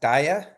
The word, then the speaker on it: DAIAA: much um so just real quick it is pronounced Dia uh for short uh and um it's also